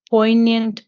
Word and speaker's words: poignant: was that wrong yeah that's po the G is not pronounced it's po po po po okay can I reread that I'll just read it again sure sure remembrance was a poignant Pang she felt each